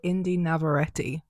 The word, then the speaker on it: Indy Navarrete: Okay, so she pronounces it Indy Navarrete.